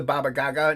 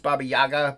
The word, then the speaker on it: Baba Yaga: one laughing at frog G um she's the Baba Gaga no I know it's pronounced Baba Yaga but Ink Spots and I call her the